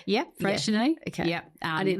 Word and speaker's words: Freycinet: Freycinet? Yeah, Freycinet. Yeah. Okay. Yeah. I didn't know if I was going to pronounce it wrong. No, Freycinet is definitely right.